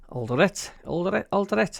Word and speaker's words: Alderete: Alderete, how you pronounce it.